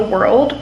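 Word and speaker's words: Whirled: It's called Save the World, but in world is spelled W-H-I-R-L-E-D.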